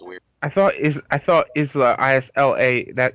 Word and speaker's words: Isla: I thought Isla, I-S-L-A, that it's pronounced Isla.